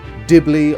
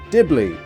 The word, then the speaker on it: Dibble: A huge warm welcome to the first ever annual Dibbley Awards. Of course, my name being Dibble, not to be mispronounced as Dibbley, even though that just sounds better for the awards for maximum confusion.